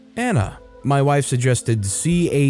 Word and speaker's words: Caeleigh: My wife suggested Caeleigh (pronounced Kailey, and yes she spelled it out).